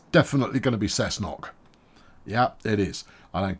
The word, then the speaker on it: Cessnock: yes who to cessnock it's definitely gonna be cessnock yep it is i don't care how you think it should be pronounced is pronounced cessnock uh and we'll uh